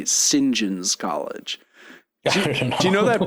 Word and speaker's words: St. John: John's College or they say Singen's College Do you know that British thing where someone will be named and it's like St. John is their name, but it's pronounced singen.